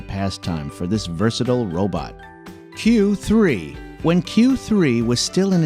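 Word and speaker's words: 九: Having gotten its name from the 93 on its jersey, number 9, pronounced Q in Japanese, Q3's predecessors, Q and Q2, were developed to throw free throws too.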